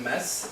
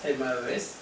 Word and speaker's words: Maes: Donc, mon nom, donc, c'est Maes, M-A-E-S. Oui. En fait, à Paris ou dans le sud, ils m'appellent toujours Maes, mais en fait, c'est Maes.